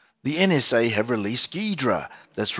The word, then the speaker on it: Ghidra: The NSA have released Ghidra. That's right, it might be spelled G-H-I-D-R-A, but it's pronounced Ghidra.